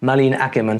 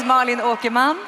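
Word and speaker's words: Malin Åkerman: I I do hope I said her name properly. My name is Marlene Okiman. Well, there you go. And you say it like that because her native language is Swedish.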